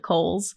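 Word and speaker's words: Kohls: Grand Commander which is Cole so Cole versus Kohl's might be difficult although um in one of the um reels that actually has been recently digitized of uh Grant Commander Kohl's funeral they do pronounce it Kohl's so that's right maybe uh that's the preferred way but cows is definitely less confusing it it just I I see the spelling and go that's cows yeah you know but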